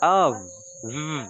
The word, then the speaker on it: of: Okay, the pronunciation of this word is of, Always, with V, always.